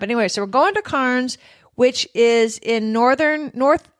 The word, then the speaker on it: Cairns: you can hardly hear the sounds like hands Carnes I'm gonna always always you're just gonna be used to it mispronounced almost every odd name out there so sorry about that but anyway so we're going to Carnes which is in northern North East Australia and